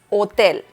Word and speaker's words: hotel: Hotel in Spanish is hotel. Hotel. Remember that the letter H in Spanish is mute, so you don't have to pronounce it.